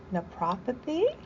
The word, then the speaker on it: Naprapathy: She is a doctor of alternative medicine and nepopathy.